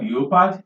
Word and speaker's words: leopard: Finally, a word like leopard, which is frequently mispronounced as leopard by our people in the second language environment. It's never leopard, it's leopard. Leopard.